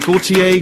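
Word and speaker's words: Gotye: Big round of applause, please, as we welcome Gautier. Thank you very much. Now, I may be pronouncing that wrong. Is it Gautier, Gertier, Goiter?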